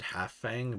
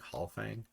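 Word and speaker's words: Halfang: i always pronounce it half fang but when you look at it it's actually one f so it's like hall fang anyway uh like halfing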